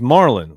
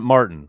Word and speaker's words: Marlin: thanks to Super Chat my last name is Marlin like the fish not Martin love the channel and